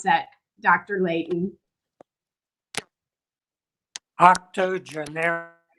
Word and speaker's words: octogenarians: 80 poems by two octago how do you pronounce that dr leighton octogenarians octogenarians absolutely what was your inspiration for writing these